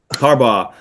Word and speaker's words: Harbaugh: because I can't I can't for some reason pronounce his name Harbor harbal har Harbaugh yeah I I I I just I can't